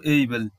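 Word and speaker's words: able: আমরা বলবো না এবেল, আমরা বলবো এইবেল।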